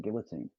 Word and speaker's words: guillotine: To be honest, I didn't even know that's how you pronounce it in America, because in the UK we could pronounce it guillotine. Well, guillotine, I believe, is the actual French pronunciation of it.